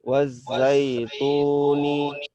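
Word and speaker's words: وَالزَّيْتُونِ: Tipiskan. Sama seperti mu. Coba. Mu. Nah, itu tipis. Wazaituni.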